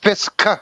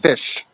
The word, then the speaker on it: Fisk: Pronounced Fisk, not Fish.